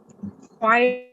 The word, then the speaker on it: choir: Choir. Choir. Choir. Is a group. Choir. Of people. Choir. No, it's pronounced choir.